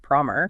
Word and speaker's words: Promer: It called him Thomas Farmer instead of Promer.